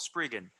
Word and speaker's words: Spriggan: When I was in high school, I was like, man, I want you to Spraygan. hire me. Yeah, it's called Spriggan. How It, do you dude, spell that?